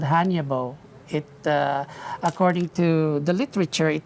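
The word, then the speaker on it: Hannya: A Hanya mask? Yeah. Did I pronounce that right?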